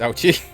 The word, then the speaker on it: Ouchi: However, as Prosecutor Ouchi, that is how you pronounce the name, it's Ouchi, points out, unless a